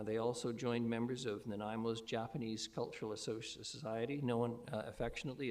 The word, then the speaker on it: Nanaimo: Uh they also joined members of Naimo's Japanese Cultural Associ known affectionately as the seven potatoes society as the pronunciation of the Naimo in Japanese approximates seven potatoes.